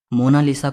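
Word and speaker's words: Monna Lisa: कोई मोनालिसा कहता है लेकिन इटालियन में इसकी क्रैक प्रनंसीएशन है मोना लिसा में जाते हो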